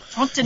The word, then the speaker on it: Trintignant: If you take his name, say any three-letter words in a strong three-syllable word that begins with a T in a French accent, and end it with something that vaguely rhymes with filet mignon, Trintignant.